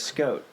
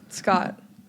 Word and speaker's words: Skjodt: name because it's got to be the most mispronounced name I want to confirm it's Scott right yes okay I was like I hope